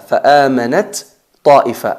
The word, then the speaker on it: فآمنت طائفة: En realidad se escribe fa'amanat ta'ifa, pero como son letras homogéneas, salen del mismo punto de articulación, pero tienen diferentes características